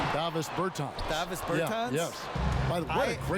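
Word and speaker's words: Dāvis Bertāns: Oh, now at this point in my life, it's Davis Bertans. Is that how you say his name? Davis Bertans. Davis Bertans?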